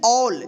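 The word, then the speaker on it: all: है तो क्या होगा इसको पढ़ेंगे ऑल क्या पढ़ेंगे ऑल ठीक है इसको अल नहीं पढ़ेंगे क्या पढ़ेंगे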